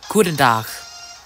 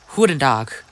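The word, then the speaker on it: goeden dag: but in Dutch, it's Guten Tag. Guten Tag. Which is spelled G-O-E-D-E-N space D-A-G. So it's similar to that of German. And it's pronounced similar to that of German as well.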